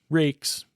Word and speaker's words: rex: I'm going to use the pronunciation rex, even though in my mind I'm thinking rakes.